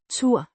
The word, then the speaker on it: tør: Pronounced Tur. similar to the English word tour, but shorter.